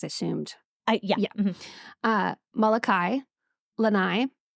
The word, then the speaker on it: Lanai: Molokai, Lanai, like, you know, the Lanais people have.